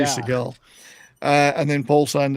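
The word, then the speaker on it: Segal: George Seagull is how you pronounce. I say Seagal.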